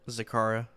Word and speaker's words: Zacara: coming up what is the name of it zakara i have been saying it right thank the